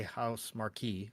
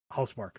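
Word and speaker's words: Housemarque: Mark or as as MAV likes to say house Marquee which I thought was hilarious I was sitting at work going Ma it's it's house Mark M stop the dev said it the dev said it right away he's like oh hous Mark okay I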